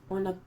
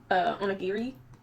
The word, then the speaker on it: onigiri: Then this is for the rice balls for the onigami. I'm gonna figure out how to say it, y'all. But onigiri. Anyway, so you pretty much,